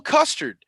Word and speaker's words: Custer: not the same guy his last name rhymes with mustard it's cole custard cola custard he's starting